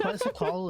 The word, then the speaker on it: Quetzalcoatl: I know that I might be mispronouncing some of them, but it's very hard for me to say that. Quetzalcoatl is how I would say it, so...